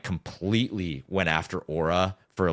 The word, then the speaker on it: Aura: for the fact that he mispronounced Aura he called it Ura and I'm sitting there